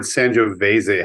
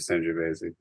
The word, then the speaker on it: Sangiovese: But I will correct Jeff on all the mistakes that he makes, including the word Sangiovese has an E on the end. You pronounce the E on the end of Sangiovese.